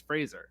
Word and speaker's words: Fraser: right for some reason people keep putting an eye on his last name it's not there it's Fraser it's a soft ass it's not a sh it's great but yeah